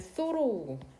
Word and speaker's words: thorough: 그 다음에 얘는 소로우고 소로우. 요렇게 끊어야 되나요?